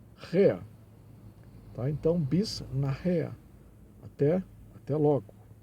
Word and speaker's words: nachher: Nós temos nach, a sílaba mais forte, na irrea, esse H aqui é aspirado, né? Nachher. E tem então, quando o H é aspirado, ele tem som de RR, né?